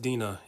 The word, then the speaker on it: Dinah: to deal with so Dinah or I think it's pronounced Dina in the Hebrew I say Dinah they say Dina let's Call the Whole